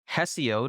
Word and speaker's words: Hesiod: their expectations senica um I'm not sure if I'm pronouncing this word correctly but I believe it's hesiod it's spelled h s i o dessio the poet said